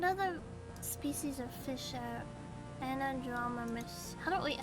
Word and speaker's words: anadromous: What other species of fish are anadromous? How do I actually say it? Fish migration. Anadromous pronunciation.